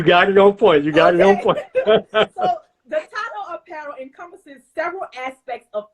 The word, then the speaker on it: Dotado: Dotado. Yes, you got it on point. You got it on point. So Dotado Apparel encompasses several aspects of fashion, including men